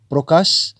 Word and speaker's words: প্রকাশ: করছেন প্রকাশ প্রকাশ প্রকাশ তার মানে প এর অফলা প্র এর সাথে একটি ওকার এসে যাচ্ছে প্রো প্রো তাই না বন্ধুরা মানে শব্দটির উচ্চারণ হচ্ছে এইরকম প্রকাশ তো এই প্রকাশ শব্দটিকেই